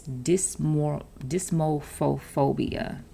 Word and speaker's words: dysmorphophobia: If you look at the root word, it's dysmorphophobia.